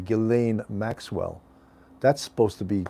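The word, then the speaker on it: Ghislaine: the epstein case um uh gizlane uh well they pronounced the s silently gelane maxwell that's supposed to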